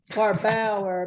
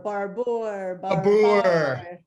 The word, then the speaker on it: Barbour: you thank you steve have people been pronouncing your name wrong your whole life barbara barbour that was cute